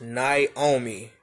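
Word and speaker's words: Niaomii: Her name is pronounced Naomi. It's spelled N-I-A-O-M-I-I.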